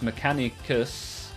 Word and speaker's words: Mechanicus: Mechanicus is pronounced Mechanicus because of its Greek origin.